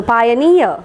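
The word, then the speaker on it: pioneer: is in this particular syllable because this particular syllable has got the suffix e e r near okay so pioner pioner and the next word magical the division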